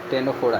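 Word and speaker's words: Ctenophora: टेनोफोडा इसका भी सी साइलेंट होता है।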